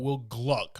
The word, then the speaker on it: Will Gluck: If you know anything about Will Gluck, I say that. I got to say it like that because his name gets messed up a lot.